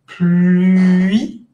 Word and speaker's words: pluie: Pluie. Y si ustedes se dan cuenta, nunca dejan de decir I. Simplemente cambian la forma de la boca, pero siguen diciendo I todo el tiempo.